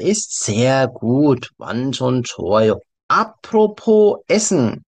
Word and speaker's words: apropos: Apropos, S가 여기서 발음이 안 됩니다. Apropos는 안 하고, Apropos로 발음하세요. Also, 식사.